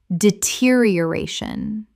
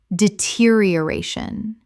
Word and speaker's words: deterioration: homogeneous homogeneous Word 292 deterioration Common mispronunciation deterioration Correct pronunciation deterioration Six syllables with the stress on the fourth.